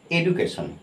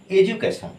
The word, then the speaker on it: education: ওই জন্য এখানে এডুকেশন এডুকেশন এডুকেশন এজু এজু নট এডু তারপর দেখো এটা আমরা